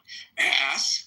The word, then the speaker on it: ask: For all of those people who have a little difficulties in their pronunciation, say the word ass. Then say the K sound. Ask.